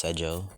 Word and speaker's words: Sergio: It's Sergio. Yeah, that's how you spell it. I know it's spelled Sergio, but like in my language, it's Sejo to make it easier.